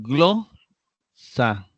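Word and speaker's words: γλῶσσα: tercera parte entonces veamos glo sa está acentuado en la penúltima sílaba y todos son femeninos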